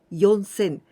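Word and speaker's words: 四千: remember this but when we say four thousand we used instead of shi yon sen so here we don't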